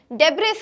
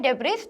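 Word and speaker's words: debris: Next, डेब्रिस, अगर आप इसको कह रहे हैं डेब्रिस तो आप गलत प्रोनाउंस कर रहे हैं, इसका करेक्ट प्रोनाउंसिएशन है डेब्री, यहाँ जो एस लेटर है वो साइलेंट रहता है, तो the correct pronunciation is डेब्री।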